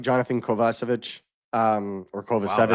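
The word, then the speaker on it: Kovacevic: know, I see people bringing up like Jonathan Kovasvich um or Kovich. That's a new pronunciation. I've never heard that. Well, that's actually how you pronounce his name, but he says Kovich so that get all shot when Alex Kovalev was here.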